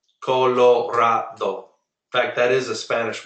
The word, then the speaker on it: Colorado: pronounce a word until you hear someone else pronounce it, and so it's very hard to learn it. But in Spanish, very simple. Colorado. Colorado. fact, that is a Spanish word. Colorado means colored.